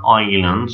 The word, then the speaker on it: Islands: of Salt انتبه هنا Islands of Salt مكتوبة بخط مختلف شوي عن البقية يردون يميزوها سأشرح لك ليش طبعا الأس في كلمة Islands لا تلفظ ما نقول Islands of Salt is about